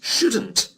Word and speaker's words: should: And the negative is shouldn't. Listen to Carolina. It isn't ethical. We shouldn't buy things there. Notice the pronunciation of should and shouldn't. It's spelt with an L. S-H-O-U-L-D. But the L is silent.